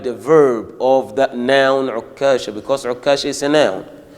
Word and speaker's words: عكاشة: But at that time, I used to say Okasha. without shadda on the kaf.